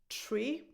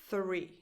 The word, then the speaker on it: three: number, is either pronounced tree or free. But these are 2 completely different words. 3. So you start with a voiceless TH, and then you say re. 3.